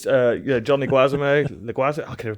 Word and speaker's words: Leguizamo: It's John Leguizamo. I can never pronounce his name. Tybalt. Yeah, Leguizamo. Sid from Ice Age. John Leguizamo. Yeah. I say Leguizamo. I can't even say it now. Leguizamo, right?